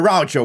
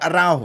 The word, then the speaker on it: Araujo: for gelhardt now Blas a raucho with a good talent araujo I keep saying his name wrong guys but yeah it's